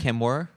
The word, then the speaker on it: Kamworor: Joffrey Kamworor. Kamworor.